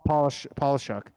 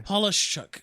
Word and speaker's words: Polishchuk: I've been trying to Polishchuk. Yeah, it's like perfectly phonetic. Yeah, Polishchuk. You got to roll it all in. Say it again. Polishchuk.